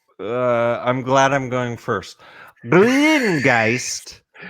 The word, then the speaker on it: Grüngeist: That's how you pronounce an U umlaut. It's to start with an E and then purse your lips into a whistle. Grüngeist.